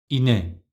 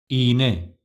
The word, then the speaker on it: iğne: Next one, without yumuşak G, ine, ine. Right pronunciation with yumuşak G, iğne, iğne.